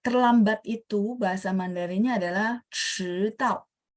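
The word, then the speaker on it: 迟到: Pertanyaan saya, teman-teman ada dengar lidah saya diangkat 迟到.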